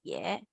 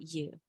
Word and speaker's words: 也: 我也是同事。我也是同事。Okay, can Again, this is pronounced yeah, not you.